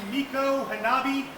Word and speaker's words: Micanopy: Y'all will be joining Captain Mike aboard the Chief Micanopy, or if you want to say it properly, Miko Hanabi. Miko is the Seminole honorific for chief, and Hanabi was his name.